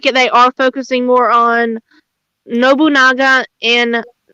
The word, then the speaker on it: Nobunaga: And it does look like they are focusing more on Nobunaga and Mistlehide.